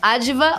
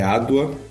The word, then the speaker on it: Adwa: Aliás, Sérgio, Adva ou Adwa? Obrigada, Anitta, pelo convite. É um prazer participar. É Adwa a pronúncia e é baseada na